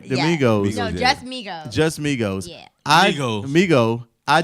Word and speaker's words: Migos: Domingos? I love Domingos. that. Did I say it right? Yeah. Domingos. No, yeah. just Migos.